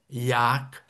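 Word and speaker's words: Ják: Um dos nossos monumentos desta época românica é o templo de Yak. Eh, o J pronuncia em húngaro I e que fica relativamente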